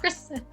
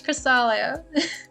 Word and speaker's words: Cresselia: Cresselia is spelled different. It's not. It's not Cresselia. Not Cresselia. Not Cresselia. It's Cresselia.